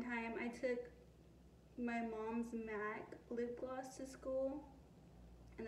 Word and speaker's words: MAC: I didn't even know how to pronounce MAC. M-A-C, I didn't know that was MAC, you know what I mean?